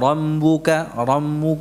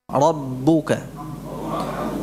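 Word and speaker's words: رَبُّكَ: Wa rambuka, tidak, rabbuka. Tidak pula dibaca dengan p, rabbuka, enggak, rabbu, ya.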